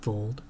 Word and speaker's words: Wold: I am Vold. It's spelled with the W, though.